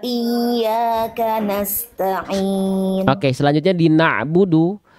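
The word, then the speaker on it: نَعْبُدُ: Di na'budu Bunda jangan sampai terputus ain sukunnya. Ain sukun, ain punya sifat namanya tawasud. Tawasud itu sedikit mengalir suaranya. Na'budu. Coba. Na'budu. Nah, sedikit lagi diulang. Na'budu. Na'budu. Na'budu. Itu kan di ujungnya masih putus tuh. Na'budu, jangan ada puncaknya. Na'budu dialirkan sedikit suaranya. Jadi jangan dihantarkan suaranya, bukan diputus di ujung.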